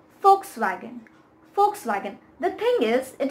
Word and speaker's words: Volkswagen: The thing is, it is German and in German the W sound is a F, like the W is pronounced as F, so therefore it becomes Volkswagen and not Volkswagen.